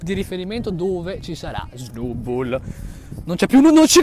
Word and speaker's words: Snubbull: Ragazzi, abbiamo uno Snubbull. Spiazzo, non si pronuncia così, si pronuncia Snubbull.